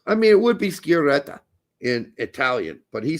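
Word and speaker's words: Sciaretta: and that is how he told us to pronounce his name Shredder so that's how we're pronouncing it uh any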